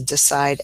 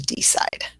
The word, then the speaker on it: decide: It's that initial E, so it is decide as opposed to decide.